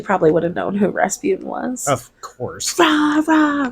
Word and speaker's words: Rasputin: His name is pronounced Rasputin.